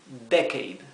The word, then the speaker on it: decade: Decade. Fíjense que si lo queremos pronunciar es esdrújula la palabra.